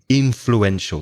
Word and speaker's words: influential: very influential in fluenta influential the stress is on the first syllable to have influenced a